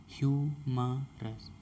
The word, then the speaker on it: humorous: तो देखते हैं ह्यूमरस का सही उच्चारण होता है हमारा ह्यूमरस, HUMOROUS, ह्यूमरस।